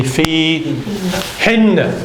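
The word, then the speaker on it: فيهن: In them, plural female, it's going to be fi hin.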